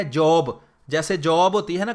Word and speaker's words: Job: ایوب کو کہتے ہیں جاب.